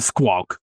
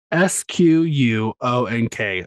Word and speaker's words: squonk: say it again the squawk wait spell it s-q-u-o-n-k a squawk squonk there's an n in there I just I couldn't